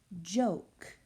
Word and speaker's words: joke: J-O-K, joke. Long vowel, silent E. That silent E makes that vowel say its name, joke.